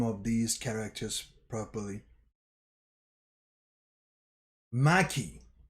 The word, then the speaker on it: Maki: of these characters properly maki not my maki follows with another follows up with another attack and hits this um dagon character and at the same time while so ma um maki follows up with a